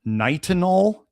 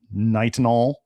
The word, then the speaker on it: nitinol: But then they started putting it in, like, you know, there's some IUDs made of nitinol. I believe that's how they said to pronounce it, was nitinol.